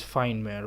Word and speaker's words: Fiendmare: couldn't pronounce the name the proper pronunciation is fine where with fine stands for demon and Maher is derived from nightmare and story